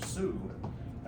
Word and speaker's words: Sioux: in those days and if you look how that that name is spelled s-i-o-u-x French so uh the term Sue is actually not the original name but that's where that came from and many of those